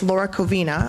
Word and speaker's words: Laura Covina: And sorry, I have to say, I said Laura's name wrong. It's Laura Covina.